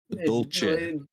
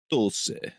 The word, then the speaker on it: Dolce: Please do not say it with a CH.